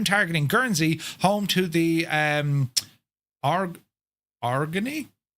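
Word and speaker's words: Aurigny: RNE.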